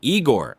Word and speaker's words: Igor: Igor. No, Master. It's Igor. That's what I said. No, you said Igor, but it's pronounced Igor.